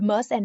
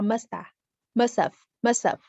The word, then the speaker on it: must have: If you say she said, you must have lost, but the must and the have can be combined and pronounced very lightly.